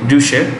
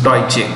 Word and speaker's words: Deutsche: How do you say that? Deutsche. We normally say Deutsche. Deutsche. Okay. Deutsche. Say that. Deutsche. Some people call it Deutsche, but it's okay. It's Deutsche.